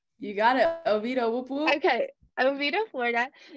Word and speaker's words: Oviedo: Oh, is it Oviedo? You got it. Oviedo, whoop whoop.